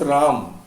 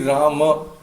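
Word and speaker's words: राम: You cannot pronounce like in you cannot pronounce Ram. It will always be Rama.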